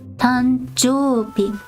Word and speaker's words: 誕生日: So you actually don't say jo-u-bi, you say jo-bi, tanjo-bi.